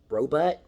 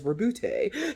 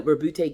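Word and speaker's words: Roboute: say his name because for years i said robot i'm like what kind of name is robot but it's rebutte so robute gilliman the leader of the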